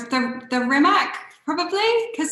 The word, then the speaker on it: Rimac: Rimac.